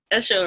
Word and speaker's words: Esho: Esho, right? That's your last name? Yeah. All right, make sure I pronounce it right.